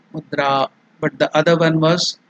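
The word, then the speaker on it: मुद्रा: There in the dra, a is elongated. That is dirgha. This is the swara. That is the vowels a. A. So mudra.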